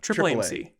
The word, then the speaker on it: AAAMC: Is that how you say it? AAA? Triple AMC. Yeah, we love Triple AMC.